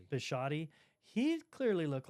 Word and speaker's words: Bisciotti: Bisciotti.